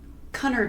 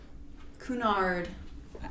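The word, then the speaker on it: Cunard: Construction for the Queen Mary started in 1929 and was financed by the Connor line. I should have looked up that pronunciation, but I didn't. Um, Kunard.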